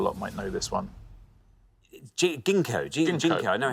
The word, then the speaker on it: Ginkgo: Ginkgo. Ginkgo. I know how to pronounce it.